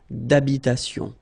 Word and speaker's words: d'habitation: Remember, H doesn't exist in French, well, in most of the cases, so it does mean that you don't pronounce it, alright, so d'habitation.